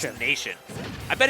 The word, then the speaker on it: Na7ion: We do have some confirmation from chat saying it is in fact pronounced Nation. Yeah, that makes more sense. It just looked like a Z, not a 7 on the previous overlay, and I hadn't looked back.